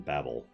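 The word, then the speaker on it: Babil: it's it's different consequently same thing with bab ill rather than babel as well you can still pronounce it Babel but I still like Bab - ill we can't make you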